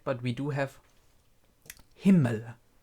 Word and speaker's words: Himmel: A lot of people already pronounce him right, but we do have Himmel. Himmel, right? That's how you pronounce him.